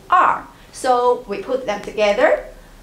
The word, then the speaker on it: 二: We pronounce it as R, R.